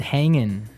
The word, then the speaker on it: hanging: ining right yeah but usually you don't really pronounce the G in this context cuz it's very informal so how's it hanging